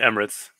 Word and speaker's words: Emirates: Arrakis, aka Dune, was United Arab Emirates. Is it Emirates or Emiratis? How do you say that? I think Emirates. Emirates.